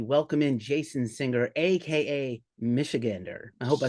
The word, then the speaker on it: Michigander: Michigander.